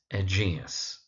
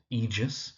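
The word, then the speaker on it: Egeus: It's egus. But what you do find is that people pronounce it as egus or egis or even egg sometimes, but it's egus. Emphasis on the second syllable.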